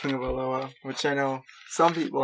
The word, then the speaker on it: Tagovailoa: And although it doesn't look like it's pronounced Tagovailoa, which I know some people have a problem with at the table, that's how it's pronounced.